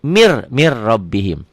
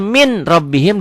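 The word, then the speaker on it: من ربهم: Mir rabbihim. Tulisannya min rabbihim, dibacanya mir rabbihim.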